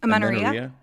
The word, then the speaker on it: amenorrhea: Amenorrhea. Amenorrhea, right? Amenorrhea, or the loss of your period altogether, right?